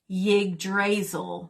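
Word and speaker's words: Yggdrasil: of the tree so he hung himself from yig drazel which is spelled y g g d as in delta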